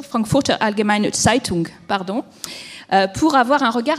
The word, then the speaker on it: Frankfurter Allgemeine Zeitung: c'est moi qui me suis trompée dans la prononciation, Frankfurter Allgemeine Zeitung, pardon, pour avoir un regard un petit peu d'outre-Rhin sur les idées, les réalités européennes.